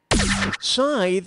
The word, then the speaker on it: scythe: wrathki player one hit Scythe rhymes with tithe but I still like